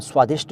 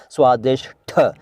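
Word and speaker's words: स्वादिष्ठ: आपने स्वादिष्ट देखा होगा लेकिन कहीं भी स्वादिष नहीं देखा होगा स्वादिष ठ और सही यही है जनी स्वादिष भाई साहब यही सही है ना यही सही है स्वादिष ठ ट नहीं ठ अब इस्तेमाल स्वादिष्ट हो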